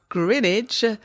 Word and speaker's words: Greenwich: I would just like to say having grown up in the then London burough of Grinidge, it is Grinnidge people.